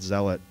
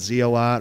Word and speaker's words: Zealot: take this to festivals nobody seems to recognize the word Zealot um until I until I give the the overzealous uh remark and then people pick up on it pretty quick but people call it z a lot or hopz aot um so so basically